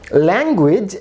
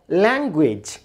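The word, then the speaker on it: language: আবার ল্যাঙ্গুয়েজ, এখানে খেয়াল করুন এই শব্দে দুইটি জায়গায় জি লেটারটি এসছে, কিন্তু প্রথম জি এর উচ্চারণ হচ্ছে গ, দ্বিতীয় জি এর উচ্চারণ হচ্ছে জ, ল্যাঙ্গুয়েজ।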